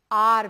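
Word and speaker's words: hour: ये एच जो है ये साइलेंट है यहां पे, मतलब आपको उसको बोलना नहीं है.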